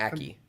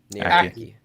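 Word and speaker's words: Ackie: I have Naomi Enrique. I think that's how you say her name. Aki. Aki.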